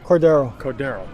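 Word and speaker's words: Cordeiro: Pronounce it for me so I don't fuck it up. Cordero.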